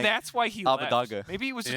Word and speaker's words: Abbedagge: Abbedagge. Yeah, Abbedagge. Yeah. Mhm. Well, see, we got the pronunciation guide, right?